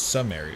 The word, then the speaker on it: Sumeru: We're going to Sumeru, everyone. It's Sumeru, right? It's Sumeru.